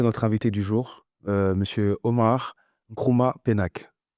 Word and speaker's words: Omar Nkrumah Penaque: invité du jour, Monsieur Omar Nkrumah Penac. C'est bien ça? Tout à fait. Je suis même surpris par la manière dont vous avez prononcé mon nom sans l'avoir écorché.